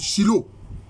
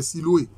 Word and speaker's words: Siloé: La prononciation, je crois en hébreu maintenant, c'est souvent les frères évangéliques qui ont fait des cantiques là-dessus. Shiloh. Mais dans les textes écrits en français, c'est Siloé.